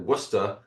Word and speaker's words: Worcester: And you even said my hometown correctly, as we locals say it, Worcester.